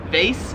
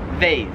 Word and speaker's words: vase: in american english as vase whereas they're here in australia they pronounce it vase so the way we say it like it rhymes with like face like your face vase face whereas here